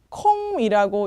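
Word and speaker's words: không: 자, 0. 콩이라고 읽으시면 되는데 이거 많이 보던 단어인데요.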